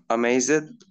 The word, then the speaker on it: amazed: Guys, you're still saying the E sound if the verb is in the simple past. Please, Amraed, the E sound should not be pronounced. You have to say amazed.